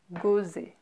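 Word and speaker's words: Gosset: So if you see a double S like that, you know it's pronounced S, right?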